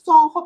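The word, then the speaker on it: Soncco: Sonjo, y es Sonjo porque se escribe S-O-N-C-C-O, CCO, así se sí, pronuncia.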